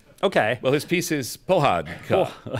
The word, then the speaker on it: Pohádka: Well, his piece is Pohádka. Pohádka.